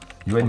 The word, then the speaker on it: Yoann: Yoann, et pas Johannes. Dans les commentaires, ne dites pas que c'est Johannes parce que c'est écrit Johannes, c'est Yoann que ça se prononce.